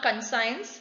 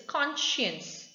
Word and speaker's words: conscience: have you heard conscience it's not conscience it's conscience conscience means there are